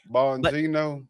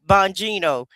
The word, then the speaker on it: Bongino: Bonino. Bonino.